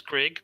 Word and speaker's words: Greg: His name is Grig, but it's spelled with an E.